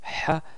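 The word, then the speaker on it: ح: Donc, essayez de le reproduire, vous allez voir que vous pouvez quand même produire le son Ha qui sort du milieu de la gorge en essayant de faire un peu de pression sur la gorge au milieu.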